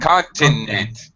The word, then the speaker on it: continent: Continent. You forgot the middle syllable is what you did.